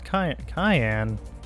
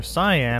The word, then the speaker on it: cyan: No, it's cayenne. Or cyan, however the hell you want to pronounce it. Cayenne is a pepper, cyan is a color. I need to remember that.